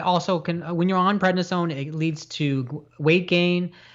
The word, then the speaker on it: prednisone: of all heart disease okay yep now the prednisone did i say it right yes you got